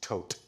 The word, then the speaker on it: Thoth: matter depends would you like to speak about the Hall of Records or the th um there was a temple of the th priests that were recently discovered yes that's pronounced tote I'm I said th just for everyone else